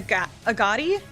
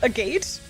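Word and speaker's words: Agate: Pronounced it as a Agatti. Agoti. Yeah, that was a hard one. When I first saw AGOT in the first chapter remake, I was like, what the How do you say that? I think I said a gate. Literally a gate.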